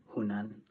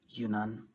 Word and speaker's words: Yunnan: So Zhang and her father decided to move to a different province called Yunnan. Well, I'm sorry I pronounced that wrong. It's actually called Yunnan.